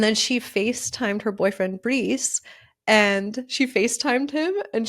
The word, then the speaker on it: Brees: I'm like, Bryce Brees, because when you read the name online, you don't really know how to say it. So I found out it was Brees.